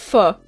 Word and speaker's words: pho: But, like, it's pronounced pho.